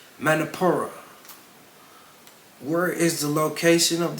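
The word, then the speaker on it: Manipura: is actually the solar plexus chakra and better pronounced manapur where is the location of the solar plexus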